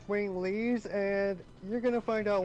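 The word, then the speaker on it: Winglies: question you know how you were calling them wing lies wing lies yeah well um oh for piss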